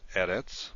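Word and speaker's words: אֶרֶץ: Now if you have a word, we'll look at eretz, which we've already looked at more than once. Eretz is a word that has the stress on the first syllable, not at the end.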